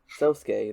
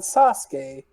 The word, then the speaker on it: Sosuke: introduced after a while to sosuke the other main character the boy who becomes friends with ponyo not sasuke ponyo get your name